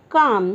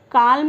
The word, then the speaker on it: calm: काम, CALM, काम। यहाँ पे काल्म नहीं बोलेंगे फ्रेंड्स, यहाँ पे जो L होता है वो साइलेंट है, इसे कहेंगे काम।